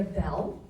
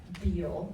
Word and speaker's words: Beall: My name is Bell. The A is silent. Some people call us Beal, right?